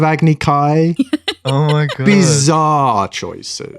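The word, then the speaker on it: Agni Kai: Agy Ki instead of Agny Kai.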